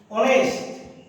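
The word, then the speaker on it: honest: যেমন লক্ষ্য করো, এইচ এর পরে যদি উ থাকে, অনেস্ট, এক্ষেত্রে এইচ এর উচ্চারণটা তোমার সাইলেন্ট।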